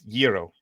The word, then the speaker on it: gyro: pronounce it. Is it gyro or gyro? It's gyro.